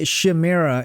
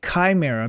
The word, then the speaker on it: Chimera: to try my best not to say shimera and instead say Chimera because that is the proper pronunciation of it however I have shamera fused into my brain